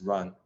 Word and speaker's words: Ruan: uh yubo Ron uh yubo is am I pronouncing your last name correctly uh yeah sure it's Ron but Ron okay yubo run uh yubo has a very